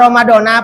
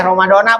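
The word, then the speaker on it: رمضانَ: tuh itu sempurnanya niat dibacanya ramadona apa ramadoni boleh ramadona boleh ramadoni boleh jangan berantem gara-gara ramadona sama ramadoni pada berantem gimana kitu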